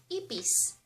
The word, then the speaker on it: ipis: Next, cockroach in Ilocano is, ipis. Ipis. i (pronounced "e") pis Ipis.